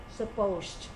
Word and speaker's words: supposed: And this time, this is a slightly different pronunciation. So when we use this structure, it is supposed with a sound, supposed at the end.